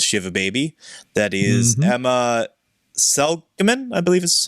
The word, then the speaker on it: Seligman: That is Emma Seligman, I believe is how you pronounce her Ella last name. Seligman, yes.